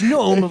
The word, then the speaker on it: gnome: Well, I guess gnome, like known.